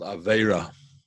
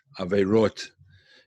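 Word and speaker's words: עבירות: But I'm joking a little bit because the word for sin in Hebrew is called Avera, Averot in modern Hebrew, but in sort of chassidic Hebrew, the way it's pronounced is they say Avirus, like the virus, you know.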